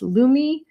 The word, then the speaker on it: Lume: The company is pronounced Lumi.